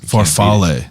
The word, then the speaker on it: farfalle: It's farfalle. That's the right way to say it. Yeah. Not bow tie.